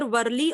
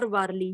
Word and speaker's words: Warli: Kaustup, it is pronounced in both the ways, either Warli or Warli.